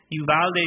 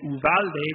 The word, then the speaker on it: Uvalde: combination of the two uvalde being the english pronunciation and uvalde being the spanish pronunciation or something in between